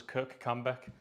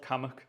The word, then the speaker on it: Kirkcambeck: For example, like if you go to Cumbria, there's a place that I would pronounce as Kirkcambeck. Right, yeah. It's called Cammock.